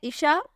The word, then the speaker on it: Isha: नाम है ईशा, स्पेलिंग है ISHA।